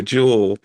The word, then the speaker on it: Jewel: Notice I said jewel and not jewels because I may lose my Chicago. It's it's jewel. But everybody in Chicago pronounces the grocery store as Jewels.